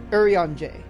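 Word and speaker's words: Urianger: those who don't know his name is pronounce urianjay seven winning moons C7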